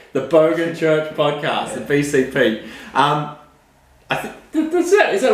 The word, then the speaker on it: BCP: The Bogan Church Podcast, the BCP. I think is that right? BCP? Yeah, B for Bogan, C for Church, P for Podcast. Okay, T. So it's the TBC. No, No. the T is silent.